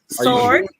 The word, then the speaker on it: sword: Sword. Are you sure? Sword. I'm positive. Sword. The W is silent, and they say sword.